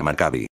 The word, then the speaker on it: Macabi: El acrónimo M kbi que se pronuncia macabi tras la destrucción del